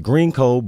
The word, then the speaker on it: Green Eco Builds: It is Green Eco Builds, pronounced Greenco, but spelled Green Eco.